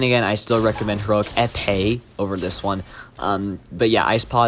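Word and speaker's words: Épée: In fact, I just realized I pronounced Heroic Epee wrong. It's Heroic Epee.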